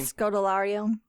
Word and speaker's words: Scodelario: You have Kea, I'm not even going to try to pronounce her last name. Scodelario.